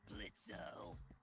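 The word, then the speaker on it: Blitzø: Uh-huh, sure, Blitzo. The O is silent now, bitch.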